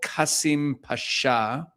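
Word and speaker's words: Kasımpaşa: So Erdogan grew up in a poor religious neighborhood in Istanbul called Kasim Pasha, I think is the correct pronunciation.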